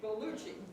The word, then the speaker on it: Bellucci: We had to cancel it, and I'm sorry, I'm probably pronouncing your name wrong. Is it Lucci, right? Bellucci. Sorry, Bellucci, right?